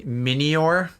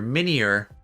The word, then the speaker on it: Minior: little meteorite guy min minior oh oh i've been saying his name wrong this whole time it's mini meteor minier it's an urchin uh